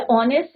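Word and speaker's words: honest: जैसे आर है या ऑनेस्ट है तो हम नेस्ट नहीं बोलते क्योंकि एच इसमें साइलेंट रहते है हम क्या देखते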